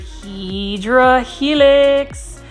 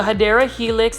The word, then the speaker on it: Hedera helix: This one right here, plant foliage, you already know is your favorite, Hydra Helix, or the Hedera Helix. That's how you say it correctly.